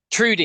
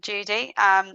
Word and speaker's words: Trudy: Trudy, Yeah, how are you? good, thank you. So, and thank you for correcting from Judy. Judy is like the most common mispronunciation of my name.